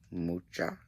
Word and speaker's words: Mucha: So she went on this whole story about her Alphonse Mucha, which I think it's actually Mucha, if I'm not mistaken.